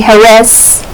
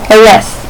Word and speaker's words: Jerez: At the 1997 European Grand Prix at Jerez, that's how you pronounce it, you don't say Jerez, you say Jerez.